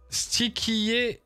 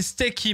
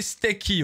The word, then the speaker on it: Steaky: a une consonance américaine tu as écrit ton nom avec un steak comme un steak ok prononcer steak en